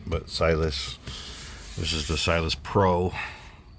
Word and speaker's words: Siless: But until then, that's the silus for those pronounce it. It's kind of meant to be like silent, but silus.